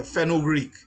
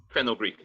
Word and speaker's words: Fenugreek: The Fenugreek, is that how you pronounce the name? Yeah, Fenugreek. Fenugreek.